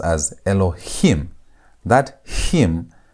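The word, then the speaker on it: אלהים: This is going to be pronounced as Elohim. That him. That's where you put the emphasis on the last part.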